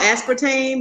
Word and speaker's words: aspartame: what I'm saying Aspartame is it called Aspartame is that how you pronounce it yep that just as bad